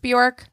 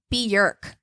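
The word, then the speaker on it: Björk: you guys know that her name is not pronounced borm it's Bork like jerk B is how you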